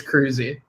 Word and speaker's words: Kroeze: Kroeze? I'm thinking about changing my name because nobody can pronounce my last name right. But it's Kroeze. Kroeze. Like Tom Cruise.